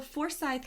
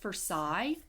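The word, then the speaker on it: Forsyth: lake then probably still in the lake so forye County there's a lot of dark and terrible stuff that happened in for County I wanted to throw in here uh I've heard it pronounced forai but people who live there it's it's forye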